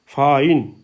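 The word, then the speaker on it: fine: आई है लास्ट वाला इससे पहले कंसोनेंट है और इससे पहले वा आ गया तो ये वल जो है हो जाएगा फाइन आई बन जाएगा आइ फाइन और यदि उससे पहले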